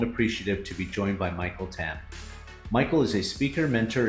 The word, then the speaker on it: Michael Tam: So, Michael Tam, I've never really had you confirm that Michael Tam, that's the correct pronunciation, correct?